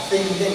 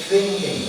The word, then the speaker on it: thinking: thinking skill itu bacanya thinking ya, bukan thinking ya, thinking. Kalau masalah think itu gini, something, nulisnya T-I-N-G, think. Kalau itu kan T-H ya, jadi think. I think of you.